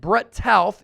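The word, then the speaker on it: Brett Toth: And Brett Tauth, yes, that's the proper pronunciation.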